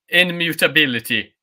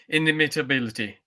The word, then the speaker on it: inimitability: I pronounced inimitability incorrectly before. Really? Yeah, I said immutability. Immutability. Okay. Yeah, but I meant inimitability.